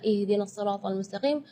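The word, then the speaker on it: اهدنا الصراط المستقيم: Di sini makhraj huruf H yang ingin Kak Nabila tekankan, karena biasanya kalau kita mendengar imam-imam, jangan pun imam-imam, mungkin kita sendiri ya ketika membaca ihdinas siratal mustaqim, baca H-nya keluarnya dari dada. Ya, itu tidak boleh, itu keluarnya dari dada. Sedangkan makhraj huruf H itu adalah dari tenggorokan. Jadi keluarnya tipis karena H itu termasuk huruf di antara 28 huruf hijaiyah yang paling lemah adalah huruf H. Maka kita jangan berlebihan supaya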